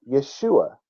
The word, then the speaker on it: Yeshua: of the Lord his name has always been Yeshua which means he is salvation when translators attempted